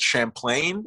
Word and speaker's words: Champlain: that's an interesting fact i might have to correct you on the pronunciation though i think you're i think i think you mean lake champlain is it d-h-a-m-p-l-a-i-n yeah